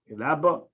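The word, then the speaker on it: רבה: Ki rabba, whenever the verse says rabba, the accent is on the last syllable, on the beth, rabba, because they are translated as great or becoming great.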